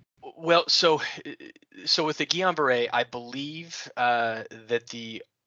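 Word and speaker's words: Guillain-Barré: years ago and he suffered from i may pronounce this wrong gillian barr syndrome guillain-barre yeah okay thank you um and the doctor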